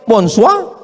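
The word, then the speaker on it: bonsoir: Tulisannya bonur bacanya bonjou. Bon soir, bonsoa.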